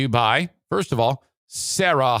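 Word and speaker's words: Serra: by first of all sarah honda granville and that's s-e-r-r-a sarah honda granville spell it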